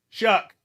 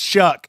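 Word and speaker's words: Shough: do you pronounce a Tyler kid's last name shuck it's shuck it rhymes with that's the easiest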